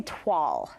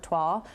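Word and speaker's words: toile: of grandma's dining room wallpaper i would say tuall you are correct really but i would say 80 percent of of people that i run into min either mispronounce the uh this word twal or they're too afraid to even attempt to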